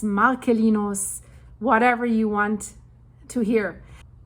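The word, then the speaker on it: Marcellinus: My Latin teacher, which I appreciate a lot, um the C is a K. That's how I learned it. So, Marcelinos, Marcelinos, whatever you want to hear.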